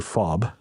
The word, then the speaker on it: FOB: forward operating base or fob pronounced as in ke fob consisted of our medical